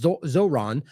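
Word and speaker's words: Zohran: are zero comments about the Colorado attack from Zorhan Zoron how do you say that it's Zoron prior to this one no condemnation of the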